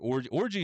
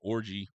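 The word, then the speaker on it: Orji: And then the aforementioned Orgy, and that's spelled G-I, not G, or excuse me, J-I, not G-Y.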